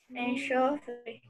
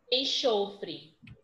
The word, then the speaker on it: enxofre: Tirando esse som de CH, qual é a outra palavra que eu tenho? Como exemplo. Enxofre. Enxofre. Enxofre, certo?